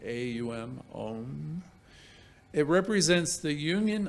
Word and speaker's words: Om: om is om but it's pronounced like in three syllables like AUM om it represents the